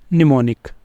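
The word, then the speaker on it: mnemonic: है यह क्या है यहां पे ये वाला एम हमने नहीं बोलना तो यह क्या बन जाएगा हमारे पास निमोनिक निमोनिक ये एक ही वर्ड है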